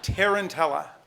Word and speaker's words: tarantella: tambourines did you say 6/8 time yes okay tarantella tarantella any alternate pronunciations just the one tarantella tarantella tarantella anybody